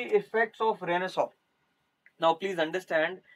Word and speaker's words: Renaissance: रेनेसॉ या जिसे मैंने यहाँ पर ये स्पेलिंग में रेनेसांस लिखा जाता है बट इट इज रेनेसॉ.